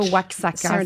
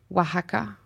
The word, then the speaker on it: Oaxaca: Puis, c'est ça, ça se prononce pas, en fait, c'est comme un H. Fait que c'est pas Oaxaca, c'est Oaxaca, right? Oaxaca, oui.